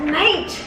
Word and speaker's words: mate: But it's not A, it's I. No, it's still that A sound. A, mate. Like I ate an apple.